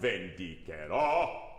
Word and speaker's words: vendicherò: Vendicherò. Yep. Because in Italian it's vendicherò. Vendicherò.